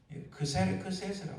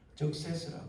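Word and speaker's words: Xerxes: 일반 세계사 책이나 혹은 영어적 표현 혹은 여러 가지 히랍적 표현으로는 크세스라고 합니다. 말하자면 아수르에는 우리가 흔히 하는 말로 영어적 발음으로는 적세스라고 그러고 영어적 발음은 적세스라고 그러고 그리고 또 아수르는 이거는 페르시아적 이름이고 또 크세스라고 합니다. 자, 고대 건너 아시아의 거의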